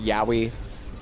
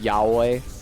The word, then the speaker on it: Yahweh: It broke my heart the day I learned that it's not pronounced Yahi. It's pronounced Yahweh.